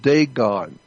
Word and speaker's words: Dagon: The Catholic Church, when you see the Pope, he represents the worship of Dagon. It's spelled D-A-G-O-N, Dagon.